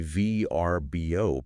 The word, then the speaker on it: Vrbo: Because for the longest time I was strictly a VRBO person. It's an acronym. You spell it out.